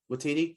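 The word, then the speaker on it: Waititi: are ragnarok vibes definitely um i hope i pronounced his name right taika watiti i always felt like i mispronounced the name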